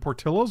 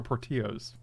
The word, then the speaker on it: Portillo's: now I don't know is it Portillo's or party owes boat okay Portillo would implicate Mexican origins right as where Portillo's would be Italian like said it right